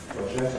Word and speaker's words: courgette: We saw that carrot is stressed on the first syllable, courgette on the second, rhubarb on the first, tomato on the second.